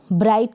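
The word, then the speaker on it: bright: फिर ये है बी आर को ब्र, आई और ट, ब्राइट का मतलब है चमकीला। बी आर को ब्र प्रोनाउंस करेंगे।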